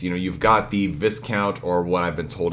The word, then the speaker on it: Viscount: been told is pronounced Viscount, which I have a hard time saying it that way because you get a discount at a store, you don't get a die count, right?